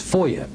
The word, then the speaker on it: FOIA: here inside the beltway we pronounce those as FOIA in an effort to